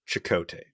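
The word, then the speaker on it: Chekote: Because for the life of me, I hear Admiral Chakotay. That's how it's pronounced. It's spelled different, but that is the name they used.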